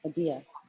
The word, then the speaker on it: Adia: Adia. No, but Oh, you said Adia. Oh, I'm sorry. Zepeda. No, that's her last name. Oh. And Adia. Adia rhymes Adia. with rogue. Adia rhymes with IKEA.